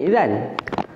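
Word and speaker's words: إذن: Bila kita ubah jadi alif, bacanya idha lah. Boleh. Kalau kita berhenti, kalau kita berhenti, kita tak sambungkan dengan ayat selepas, kita baca idza gitu ya, berhenti dengan idza. Asalnya idzan.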